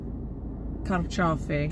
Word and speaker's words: carciofi: Because in Italian it's carciofi.